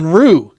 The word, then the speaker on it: Unruh: guys so help me pronounce the last name unra is that right it's it's close I've been called uh many things uh the correct pronunciation is unre R unru got it German for unruly but I'm I'm